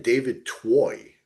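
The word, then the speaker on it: David Twohy: David Toy, right? Is that how you pronounce it?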